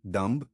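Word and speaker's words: dumb: Silent B pattern डंब थंब bomb climb lamp एमबी pattern may be silent.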